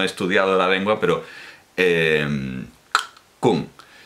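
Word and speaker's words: !Kung: Kung, los Kung, es decir, con un clic retroflexo, no un chasquido, sino un clic retroflexo. Bueno, pues los ñañaes son un grupo dentro de los Kung, y este informante Kung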